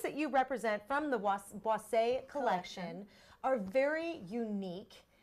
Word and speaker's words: Boisse: Boisse?